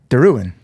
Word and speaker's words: Derouen: He's like, and I said Derouen, and he goes, how you say it? And I go, Derouen.